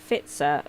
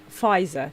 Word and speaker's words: Pfizer: person turn up for fitzer vaccine uh how i know hang on fizer that's how you say it thank you if it's